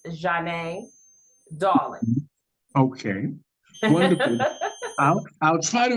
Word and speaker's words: Zhane Dawlingz: pronounce your name right Zan so the so the correct pronunciation is Jan darling okay wonderful I'll try